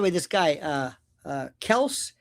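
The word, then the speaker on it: Kelce: By the way, this guy uh uh Kelse, they called him Kelsey, but I think it's pronounced Kels.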